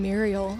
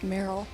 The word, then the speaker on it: Meryl: say your name right everybody down here pronounces my name Muriel and it's Meryl all right and it